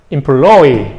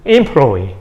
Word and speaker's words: employee: T-R-A-I-N-E-E trainee 왜 강세가 다 뒤에 있을까? 이 단어들은 다 불어에서 왔기 때문에 근데 100년 정도 있으면 이제 employee 강세가 이렇게 옮겨가고 또 한 100년 있으면 강세가 앞으로 옮겨갈 겁니다. 그래서 employee 이렇게 될 겁니다.